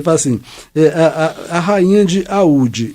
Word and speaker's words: Oude: Então agora, ele fala assim, a rainha de Aúde, escreve Oude, O-U-D-E, tá? Mas eu já fiz uma pesquisa e vi que a pronúncia é Aúde, e é uma cidade da Índia, né?